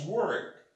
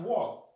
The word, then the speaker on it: work: Don't forget the pronunciation, guys, is work, not walk.